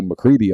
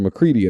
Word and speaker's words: McCready: I mean, everybody mispronounces my name. They always go McCready. I'm like, no, it's McCready.